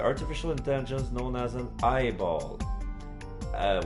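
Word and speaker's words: AI-ball: intelligence known as an eyeball uh when I say eyeball it's it's spelled AI dashball y also lost all of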